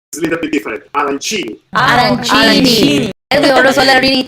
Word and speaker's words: arancini: Arancini.